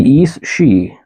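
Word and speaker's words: aos sí: The East She. I remembered how to pronounce it because I didn't put how to pronounce it for this line. The East She were the fairy folk descended from the Tuatha De Danann.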